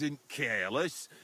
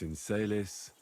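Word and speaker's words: in caelis: You're saying it wrong. Listen. It goes like this. Pater noster, qui es in celis, Sanctificator nomen tuum.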